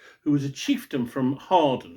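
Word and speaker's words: Hawarden: And the story involves Caradoc, who was a chieftain from Harden. It's spelled Harwarden, but it's pronounced Harden.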